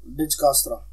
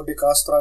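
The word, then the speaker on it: Dijkstra: डिजकास्त्रा, इसको डिकास्त्रा भी बोल देते हैं, डिजकास्त्रा भी होता है, और डिजशास्त्रा भी बोल देते हैं। कई अलग अलग प्रोनाउंसिएशन है इसकी, तो कहीं पे पढ़ोगे तो अलग अलग तरह की मिल जाएगी।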